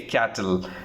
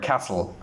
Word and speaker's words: castle: Some of them, they mispronounce this and they say cattle. It's incorrect, castle.